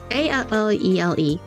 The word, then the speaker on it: Allele: Okay, long story short, this is called Kizuna no Alele, I think that's how, or Alel, I think that's how I pronounced it. It's Allele. Yeah.